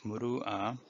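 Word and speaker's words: مروءة: see the red letter that is hamza and pronounce ah and when i looked up the meaning of muru ah it states the ideal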